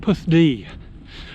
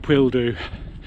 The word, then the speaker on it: Pwlldu: It's pronounced Pwlldu. Pwlldu. Here we go. Not Pwlldu. Pwlldu.